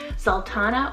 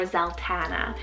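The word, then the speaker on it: Zaltana: girl side super bold we have zoltana spelt a n z-a-l-t-a-n-a sultana or zeltana really either or you can pronounce it and it means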